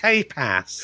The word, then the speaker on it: tapas: It's pronounced tapas.